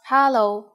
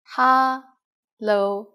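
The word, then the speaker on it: 哈囉: kamsa haitila let's start the most common informal greeting is hallo ha lo just as you can guess hello is just hello with the cantonese pronunciation we use it when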